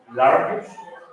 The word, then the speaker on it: large: Pero si lo pronuncias large, ¿cuántos golpes de voz ponen? One, large.